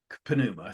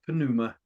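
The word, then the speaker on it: pneuma: in ancient Greece they called that puma and it's a lovely word actually silent P so it might be NOA or Numa but I do think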